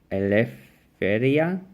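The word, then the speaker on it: ελευθερία: So in the Greek, it actually says eleftheria. So what you actually thought was a P before is actually an R in Greek. And what is actually looks like an overcross in it is a F sound.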